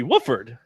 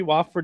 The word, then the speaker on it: Wofford: I remember back in the days of yore, we were told his name was Brody Wooford. We've since discovered that that is not the way to pronounce the gentleman's name. So Brody Wofford it is.